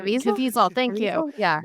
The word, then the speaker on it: Caviezel: Like, I was gonna say if we got Jim Caviezel or however you pronounce his last name, Caviezel, thank you.